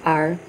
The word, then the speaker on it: Ir: It is an Irish name for the sun, the root word of this name being Ir, pronounced Ar.